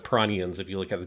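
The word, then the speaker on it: Piranhans: done by the band Piranians is how you'd say it in in Japanese. It's spelled P I R A N H A NS. um stylized in English, but it would be pronounced Piranians if you look at the Japanese.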